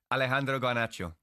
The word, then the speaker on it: Alejandro Garnacho: Alejandro Garnacho. What's the latest there? You said that brilliantly. Say that again. Alejandro Garnacho.